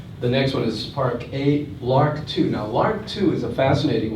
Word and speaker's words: LRRK2: The next one is Park8, LRRK2. Now, LRRK2 is a fascinating one. LRRK is like the bird, but it's spelled LRRK2.